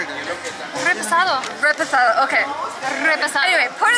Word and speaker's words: reposado: Sorry, I'm saying it wrong now because they keep saying it wrong and now I'm pronouncing it like them. Okay. Repasado.